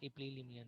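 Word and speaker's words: epilimnion: हाँ, maximum oxygen और warm condition होगा इपिलिमनियन में।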